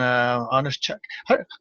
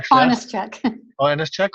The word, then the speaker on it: Onyschuk: joined today with a friend of mine honest check how do you say your last name is I've never I finest - check okay so I was close yeah I think